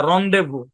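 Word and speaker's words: rendezvous: silent Z যুক্ত তিনটি শব্দ যেমন সেই লেসিফিয়ার রন্ডেভু যেমন এটা যখন বাড়ির কাজ দিবেন দেখেন খেয়াল করেন এটা যখন বাড়ির কাজ দিবেন হ্যাঁ আছে কিন্তু রেন্ডেভু রেন্ডেভু না রন্ডেভু ভাই এগুলো কিন্তু কোন ব্যাখ্যা নাই কারণ এই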